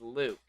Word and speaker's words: Luke: Oh, or like, I called you Looke the first time I met you, so I mean, it's Luke. Looke, Luke. Whoa. It's double O. Thank you. Okay. it's double O. Now I won't mispronounce it.